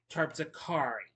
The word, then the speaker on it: Terpsichore: Okay, I did mispronounce that. It's pronounced Terpsichore, one of the nine muses of Olympus.